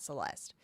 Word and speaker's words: Celeste: I have a cousin, her name's Celeste, and we pronounce it like that, Celeste. But apparently, if it is like from a Spanish speaking background, they will say Celeste. So pronouncing it right really just depends on like who's pronouncing it. Because there are people who do go by Celeste without pronouncing the final eh.